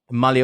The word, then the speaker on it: mull: Mull over è come M-U-L-L, giusto? Mull sarebbe. Mull, exactly, scritto M-U-L-L and we pronounce it mull. Mull. È lo stesso suono vocalico di cup.